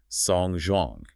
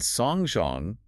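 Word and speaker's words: 送钟: The phrase to give a clock is songzhong. Songzhong. Yes. And songzhong, with different characters but identical pronunciation, also means to attend a funeral or to send someone to their end.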